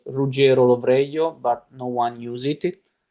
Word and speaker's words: Ruggiero: If you're wondering how to pronounce my full name, it's Rugger Roio, but no one use it since I left uh Italy because he's way too complicated.